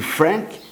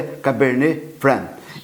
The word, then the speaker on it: Cabernet Franc: do nome desta casta por ser um nome em francês não se pronuncia a última letra de cada um dos seus nomes então a pronúncia seria cabernetram se porventura eu descuidar e fizer a pronúncia de Frank Me desculpe não é o correto o certo é Cabernet Fran e qual é a